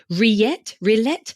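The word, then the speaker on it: rillettes: I don't know if I can even pronounce it. Pork rillette.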